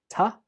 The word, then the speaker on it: to: Two takes the weak form, ta.